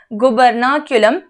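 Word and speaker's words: gubernaculum: गुबर्नाक्यूलम, pronunciation बताया, गुबर्नाक्यूलम एक fibrous cord जैसा स्ट्रक्चर है, ठीक है।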